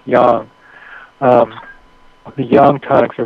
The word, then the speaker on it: Yang: spell Y and G A lot of Americans pronounce it Yang but in China Chinese it's pronounce Yang um the yang tonics are very powerful and